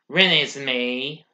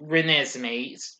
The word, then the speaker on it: Renesmee: with mackenzie foy playing bella and edward's daughter ren is me wait renesmee sorry my mistake had stopped pronouncing my apologies also billy burksbeck and pierre